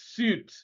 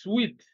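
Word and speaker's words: suite: option b which is suit but this is sweet the one s-u-i-t-e the one that ends in e is pronounced sweet all right now since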